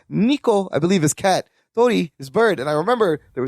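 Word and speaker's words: 鳥: Tori.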